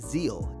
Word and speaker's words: Zexal: fandom Yu-Gi-Oh Zexal yu-yo Zexal was the fourth Series in the Yu-Gi-Oh franchise the X in the name is silent in Japan it's pronounced Zeal AKA energy we'll get